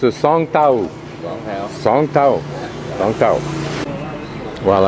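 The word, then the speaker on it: สองแถว: to be photographed behind me, he says I pronounce it Song Tao.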